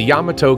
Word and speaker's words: Yamato: highlight of this park and garden is the Yamato Kon the original Morikami museum named after George Murakami a Miyagi Japan native the only member of the original Yamato colony to stay in Delray Beach after world